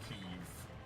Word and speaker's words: Kiev: it says yeah no this is keev but it's Kiev because it's Russian pronounced because yes God it's